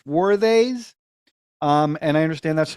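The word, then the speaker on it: Swades: in second place was swarthays I think that's how you pronounce it I thought it was suede but it's worthies um and I understand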